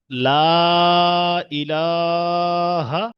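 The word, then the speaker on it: لا إله: এখানে যেহেতু ছোট হা তাহলে আমরা ছোট হা জায়গা থেকে উচ্চারণ হয় সেই জায়গা থেকে উচ্চারণ করব। কেমন? লা ইলাহা একদম কন্ঠনালীর শুরু ভাগ থেকে সবাই পড়েন লা ইলাহা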